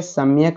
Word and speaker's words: सम्यक: फटाफट से आप लोग बताएंगे सम्यक में उपसर्ग। सम्यक, तो क्या यहाँ पे आधा म का उच्चारण हो रहा है, याद रखिएगा, तो सम हो जाएगा। क्या हो जाएगा? सम्य नहीं हो जाएगा, सम्यक।